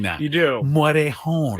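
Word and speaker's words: Morejón: I think I do a nice job pronouncing that. You do. Morejon.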